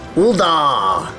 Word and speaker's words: Ul'dah: Like they make a big, the da is always, like extra pronounced. Ul'dah, the steps of Nald. And with that, we now have access to all 3 of the city-states. Emphasis on da! Yes. Big emphasis on da.